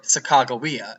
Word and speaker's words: Sacagawea: was a native woman by the name of Sacagawea, or Sacagawea, if you want to pronounce it correctly.